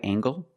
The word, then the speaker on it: angle: Is this a right angle? That's right, this is a right angle. Use the nasal plus the hard g.